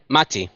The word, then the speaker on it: Mati: How do you pronounce you pronounce it with an accent, right? It's Mati. Mati. I just been saying Matty.